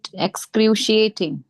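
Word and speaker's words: excruciating: again this words x एक्सक्रशटिंग एक्स एक्सिटिंग एक्स जाएगा एक्सक्रिएटिंग एक्सक्रिएटिंग okay क्रिएटिंग यस x crew shutting श जाएगा last में श षटको वाला श लास्ट में स्टार्टिंग में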